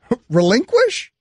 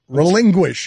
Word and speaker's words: relinquish: Relinquish. Oh, what did I say? Relinquish.